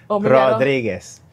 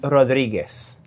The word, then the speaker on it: Rodriguez: Raphael and um yes, I think I will pronounce well. It's Gonzalez, right? Rodriguez. Oh, there's a Z in there. So, Oh, okay. But it's okay. Okay. The two names begin Rodriguez.